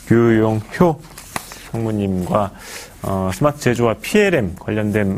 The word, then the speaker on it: 류용효: 지금까지 D1의 류용효, 예, 제가 호라고 잘못 발음한 것 같습니다. 류용효 상무님과 스마트 제조와 PLM 관련된 말씀을 나눠봤습니다.